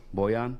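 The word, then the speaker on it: Bojan: bull gum how do you say that name boyan boyan yeah i say the last name bandage bogdanovic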